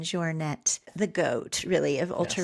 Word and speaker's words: Jornet: Anyways, I want to say Killian Joure, but I think proper pronunciation is Killian Jouret, the goat really of